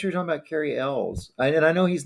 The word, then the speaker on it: Elwes: We all pronounce it Elwes, and he answers to it.